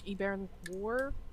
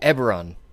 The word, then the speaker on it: Eberron: Like E-Baron War? Oh, Eberron. Eberron.